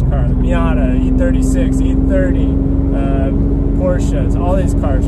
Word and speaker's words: Porsche: I like saying Porsche, but Porsche is the way it's supposed to be pronounced apparently.